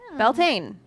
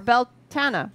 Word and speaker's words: Beltane: Beltane, or Beltana, or Beltina, or however you like to pronounce it. Beltane. There are many It's options. May Day.